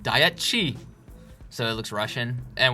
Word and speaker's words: Dietschy: She said it rhymes with peachy.